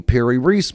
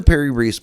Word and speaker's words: Piri Reis: Then we look at things such as the Piri Reis map.